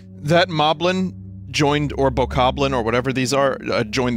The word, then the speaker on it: Bokoblin: his uniform goblins i believe it's pronounced bokoblin but i'll accept boblin jeopardy would too these